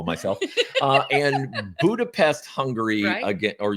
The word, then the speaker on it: Budapest: Uh, and Budapest, Hungary again. Or you you say Budapest. Budapest. That's how they say it. So, you Budapest is what I say.